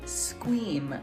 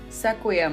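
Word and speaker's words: Sequim: right everybody so I totally screwed up the pronunciation of this town it's actually scream like scream so sequium was definitely not right I actually just picked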